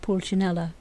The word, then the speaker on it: Pulcinella: "Pronounced Pulcinella."